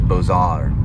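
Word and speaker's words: Beaux-Arts: which is b e a uux Arts it's pronounced bosar bzar it's right there it's a cross between French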